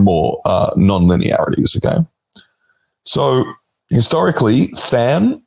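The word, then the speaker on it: tanh: So historically, than, it's written tan-h, but pronounced than for some reason, probably because tan-h is 2 syllables, has been a popular activation function.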